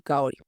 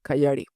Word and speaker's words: Kaori: y Liz, Rose y Kaori, cuyo nombre Ed ni se molesta en pronunciar bien, prefiriendo llamarla Kayari, que sería como coyote, pues, en inglés.